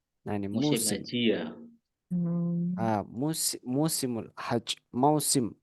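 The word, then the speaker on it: موسم: ini musim musimul Haj mausim bacanya itu mausim mausimul Haj mausimul misal mausim durian mausim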